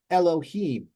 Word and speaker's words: Elohim: it longer e but since it's accented back here the beginning it's quicker so it's Elohim see Elohim so it's a shorter sound at the beginning and that's designated by